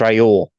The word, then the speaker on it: Raoul Pal: You think he knows how to say his name? It's Raoul. Raoul Paul.